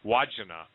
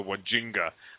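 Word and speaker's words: Wandjina: and it's the I think Stan corrected my pronunciation Deo did but it's called The wajina W DJ Ina or something I used to call them the wajinga but it's a wagina and they almost identical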